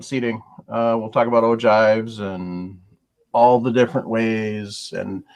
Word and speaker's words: ogive: one clarification it's spelled o-g-i-v-e like spelled and it looks like it's spelled o give no it's ogive the g is pronounced like a j okay no i just